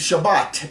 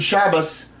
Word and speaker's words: Shabbat: So a lot of times you'll hear the Ashkenazis will say, Good Shabbos, and you can swear you heard an S on the end. You did. You heard an S on the end. They take that final tav and make it an S sound.